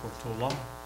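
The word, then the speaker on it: Portolá: I'm supposed to say Portola. I think that's the correct pronunciation, apparently.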